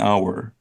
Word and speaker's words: hour: is a silent h so we say an hour but horse we actually pronounce the h sound H so so we